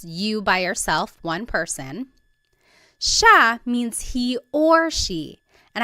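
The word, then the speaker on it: siya: so it's just you by yourself one person sha means he or she and I want to point out that sha is gender neutral that means you have to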